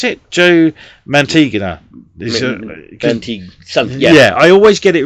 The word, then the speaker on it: Mantegna: Joe, how do we say you pronounce it? Joe Mantegna.